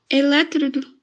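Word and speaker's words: eletrodo: a palavra oxítona depois o electrodo electrodo o som é fechado tá ele entrou é uma paroxítona ensiná-la o show sim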